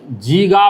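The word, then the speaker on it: giga: 10 का पावर 9 इसको तोड़ने पर 1 अरब होता है, इसको कहेंगे जीगा भी कहते हैं, गीगा भी, स्पेलिंग ऐसे होता है, समझ गया।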